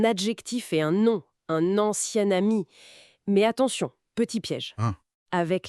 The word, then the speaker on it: ancien ami: Ancien ami, ça se prononce presque comme au féminin avec un son N qui apparaît. Ancien ami. C'est c'est un peu déroutant au début. Ah oui, je vois. La nasalisation disparaît un peu.